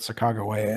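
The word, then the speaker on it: Sacagawea: on but uh I I grew up with the pronunciation of sakaia in fact in Spokan there's a Middle School uh that's Sak s Middle School uh but uh in in the last couple of decades or so I've I've I've learned from some sources that the that Saga is the is closer to the actual pronunciation that she would have used um I don't know how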